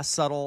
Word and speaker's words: subtle: But there's a B in the middle going just ignore me. Just ignore it.